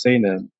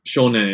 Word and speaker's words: 少年: No, the reading is se, but there's another reading for sho, and shonen is how you say that word. Weird. Okay. The reading changes to sho for some reason.